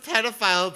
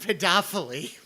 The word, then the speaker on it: pedophile: But I've never heard pedophile pronounced pedophily. Joshua Dufferina, I think you're overthinking the words here, buddy.